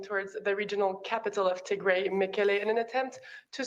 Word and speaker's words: Tigray: Like, even if you can't pronounce it, but Tigray, like Tigray. It's not Tigray, but yeah.